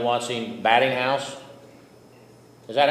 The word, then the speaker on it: Baiting House: Watson Batting House? Is that how you pronounce that? Batting House or Baiting House. Baiting House with a hard A.